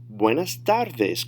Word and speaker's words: buenas tardes: Notice the pronunciation is going to be a little bit different from English, because when you see the E in Spanish, it's an A sound. And a lot of times, there aren't those 5 or 6 different pronunciations of an A. It's always going to be A. In English, it could be A, all kinds of things. But in Spanish, it's always a soft sound.